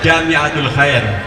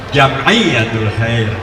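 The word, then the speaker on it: Jam'iyyatul Khair: Ain Jim mimulisannya itu maka dibacanya bukan jamiatul Khair Jamiyatul Khair jamiyatulhair itu dua istilah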